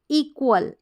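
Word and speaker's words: equal: आधा क और व, क्व करके इसको प्रोनाउंस करते हैं, और ए को ए और एल लास्ट में है तो अल अल अ, यानी ए का उच्चारण अ और ल का उच्चारण ल, एल का उच्चारण ल।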